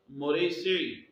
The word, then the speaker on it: مریسیع: مریسیع بھی کہتے ہیں، اور غزوہ مریسیع جس کا کچھ لوگ تلفظ مرسی بھی کرتے ہیں۔ بہرحال جسٹس پیر کرم شاہ الحضری رحمۃ اللہ لکھتے ہیں کہ صحیح قول یہ ہے کہ غزوہ مریسیع اور غزوہ مصطلق یہ